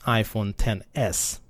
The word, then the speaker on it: iPhone XS: X s is pronounced iPhone 10s but if you say it out loud quickly you realize that you're saying iPhone tennis that's tennis te and